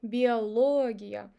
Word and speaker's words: биология: If even stressed syllable, if with O, биология. In the end, I'm saying iya, iya. So when two vowels goes in a row and one of them is ya is pronounced as ya.